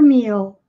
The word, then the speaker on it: meal: enjoy your meal inglês letra l sempre vai ter som de l mesmo no final das palavras não vai pessoa onde u como acontece no português nós fizemos carrossel cai né